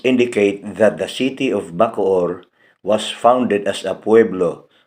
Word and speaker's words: Bacoor: what they were building the man answered bakod the Spanish pronounce it as bakur which soon became the town's name in Spanish conquistador Miguel de luarka's